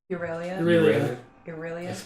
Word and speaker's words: Aurelia: Aurelia. So anything that's EYR is a soft like an ear.